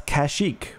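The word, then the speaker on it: Kashyyyk: do you pronounce it that's kashik with three y's could Batman with prep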